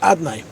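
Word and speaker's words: אדני: And number three, that Bezman Azeh, Lei Kifi Shani Nichtav Ani Nikra, the Shem of Havaya is written, and it's pronounced Adnai, because we can't be Megal Shem Havaya, but on Yom Kippur we say it Kiksavi.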